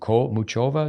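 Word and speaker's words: Muchová: zone and I think that's what and I mispronounced her name what's this young girl's name Muk muchova now mova yeah I mean that girl's game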